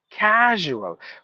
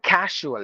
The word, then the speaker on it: casual: composure seizure and then words ending with s u a l like visual usual casual we we say casual like like yes H casual no casual it's casual why it is important